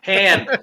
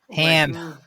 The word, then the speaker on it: Han: I mean continuity then they should correct Han Solo's pronunciation of his name all the pronunciations Empire Han even calls him Han I'm like what are you doing yeah it's han ham that's I think it was